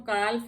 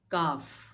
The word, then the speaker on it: calf: इसको हम काल्फ नहीं पढ़ते हैं, काफ, CALF, काफ, क्योंकि ए के बाद एल है इसलिए ये साइलेंट होगा।